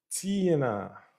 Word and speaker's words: Tiana: Tiana. Tiana is how you pronounce it.